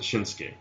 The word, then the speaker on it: Nakamura: came not gay yeah I think you pronounce it Shinsky it's kind of like Oscar where you don't be nasty you it's the same I